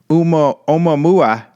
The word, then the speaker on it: Oumuamua: And essentially, this is the guy, the scientist who suggested that this planetary object, Oumuamua, that's how you say it.